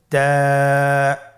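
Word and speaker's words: تاء: আপনারা আমার সাথে বলুন তা আবার বলুন তা এর মাখরাজ কোন জায়গা থেকে জিহ্বার আগা সামনের উপরের দুই দাঁতের গোড়ার সঙ্গে লাগিয়ে উচ্চারিত হয় আপনারা আমার সাথে আবার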